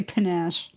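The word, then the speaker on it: panache: so I'm looking at panach is that how you pronounce that I think so yeah I'm GNA say panach that's right that's right pronunciation so I can be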